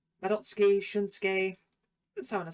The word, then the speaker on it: Madotsuki: A lot of people get the name wrong because they sort of pronounce the U in their name, which I don't know too much about speaking Japanese, but I do know when SUKI is in a name, you drop the U.